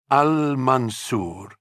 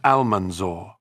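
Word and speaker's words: Al-Mansur: Because he did take it, history remembers him by the title he gave himself, Al-Mansour, the victorious. Christians of the north would learn to pronounce it with dread as Al-Manzor.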